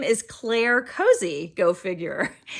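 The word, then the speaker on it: Cosi: her name is Claire Cozy, go figure. C-O-S-I, I think it's pronounced cozy.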